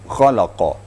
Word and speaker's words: خلق: Kha membacanya harus ada getaran pada tenggorok kita. Ya, kha ya. Itu kha itu aqsal haqq, artinya di ujung di ujung tenggorokan. Diterasa getarnya pada ujung tenggorokan.